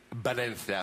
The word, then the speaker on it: Valencia: Du sa Ja Valencia det heter Valencia fordi V det blir B På På spansk så det uttales Valen OK bev jeg eh Men